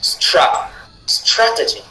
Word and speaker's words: strategy: In this case, the stress syllable is strategy strat strategy.